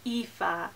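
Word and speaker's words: Aoife: even then I have epha and this name is sometimes compared to Eva it's not quite the same pronunciation but it's similar it means Beauty and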